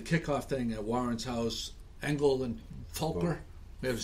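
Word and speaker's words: Engel & Völkers: Engel and Fulker. It's pronounced as an F. German. You say it quickly, like Fulker.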